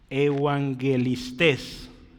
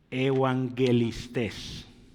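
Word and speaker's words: εὐαγγελιστάς: los evangelistas y y Cómo se pronuncia Esto es evangelistes lo voy a leer otra vez evangelistes otra vez ahí va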